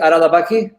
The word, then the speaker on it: Haralabaki: Do I say is it Haralabaki?